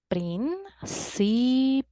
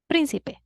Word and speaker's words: Príncipe: Remember, a word is esdrújula when the strongest part is the antepenultimate syllable. Vamos a practicar. Príncipe. Should I write down a graphic accent? Let's see. We divide the word into syllables. Príncipe. Príncipe.